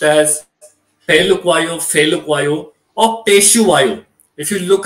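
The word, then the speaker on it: Phehlukwayo: There's a kind of a documentary done, in which he himself calls his name out as Andile Peshuayo.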